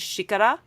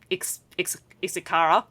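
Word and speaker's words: xícara: Unlike the family name that has an X in it, which in Portuguese in Brazilian Portuguese is pronounced like a sh. So the word for cup in Brazilian Portuguese is shikara, not ex isara if I was pronouncing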